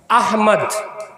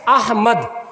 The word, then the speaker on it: अहमद: अहमद। इस नाम में भी बहुत सारे लोग गड़बड़ करते हैं, अहमद नहीं अहमद, असल उच्चारण क्या है, अहमद।